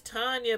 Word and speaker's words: Tanya: me spill light Enya it's Tanya but it might be spelled like Tina but could nobody Nene